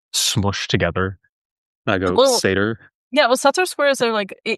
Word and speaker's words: Sator: It's Sator now. I yeah, mean, it's actually a much better Latin pronunciation, but whatever.